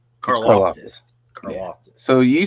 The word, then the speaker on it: Karlaftis: I always call it Karlaftis. Karlaftis.